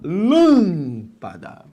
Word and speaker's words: lâmpada: É aquela cuja sílaba tônica não é a última, lâmpada, não é a penúltima, lâmpada, é a antepenúltima, lâmpada.